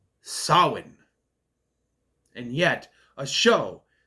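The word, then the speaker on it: Samhain: free Lucifer from hell and the raising of Sam Hayne and yes I cringed every time they said it because it's wrong you me conell Cochran from Halloween 3 all know is pronounced Sinn and yet a show B based on lore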